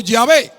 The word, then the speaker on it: Yahvé: Es decir, que la mayoría de los eruditos versados en el idioma hebreo consideran que Yahvé tal vez sea la pronunciación que más se acerque a la correcta.